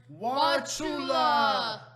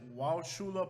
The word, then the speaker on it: Wauchula: Number 9, Wauchula. Now, I do not know if anybody ever pronounces it Wauchula, but everybody that I've ever met says Wauchula.